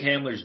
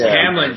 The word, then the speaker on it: Hamlin: But so I think Hamler's doing better, but still in critical condition, right? His name's Hamlin, Drew. His name's Hamlin. Say his name. Oh, I thought it was the Bronco Hamler.